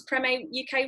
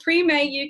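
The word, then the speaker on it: Premae: her handcrafted brand Prem a UK have I pronounce premiere UK right Claire I pronounce it cream a free man I think we'll call it pre May since you're here it's a remade and pre Mae UK has won 17 industry awards including the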